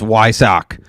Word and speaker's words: Weissach: We do have Vampire Bear 13 on YouTube appreciating that you can pronounce Weissach correctly. It's in irony. Blue is blue, not blau. And it's Weissach.